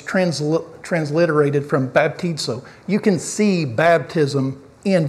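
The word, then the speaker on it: βαπτίζω: that's that's in the Greek language and it's pronounced baptizo right so it's transliterated baptized right but it's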